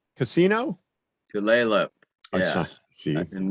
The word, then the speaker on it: Tulalip: It says uh Tulip Casino. Tulalip.